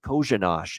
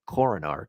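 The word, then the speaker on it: Korenář: games with san jose last year joseph yoshi kojinash is how you pronounce the name uh even though it's spelled like coronar coroner it's actually joseph kozen kojinash for uh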